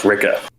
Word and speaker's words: Rikke: I think technically her name is pronounced Ricka.